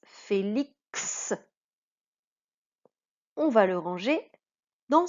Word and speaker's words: Félix: Félix. On va le ranger dans ce cadre-là, puisque ici, le X se prononce X, le K et le S.